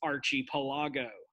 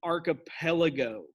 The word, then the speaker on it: archipelago: this happens um my teacher taught me it's archie pilago um that is incorrect you don't pronounce it archie pilago archie palago sounds like